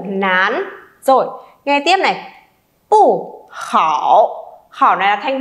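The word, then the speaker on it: 不: Nhưng nếu đằng sau pu mà là thanh 4 thì mình sẽ không đọc là pu chi mà mình đọc là gì? Pu chi, được chưa nhở? Nhớ nhá, pu mang thanh 4 nhưng khi đằng sau pu cũng là một thanh 4 thì mình phải đọc thành pu, được chưa?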